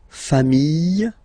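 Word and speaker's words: familles: Final S not pronounced fami singular form fami plural form same pronunciation s not pronounced okay we'll discover leic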